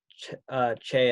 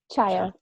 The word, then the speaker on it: Chaya: Chia, did I say it right, Chia? Chaya. Chaya. Okay, I'm sorry. Chaya.